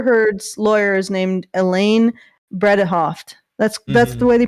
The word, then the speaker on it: Bredehoft: referring to amber heard's lawyer is named elaine bredehoft that's that's the way they pronounce it um so he she was obviously